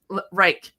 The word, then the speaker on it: Rike: Rike like bike. Bike, Rike.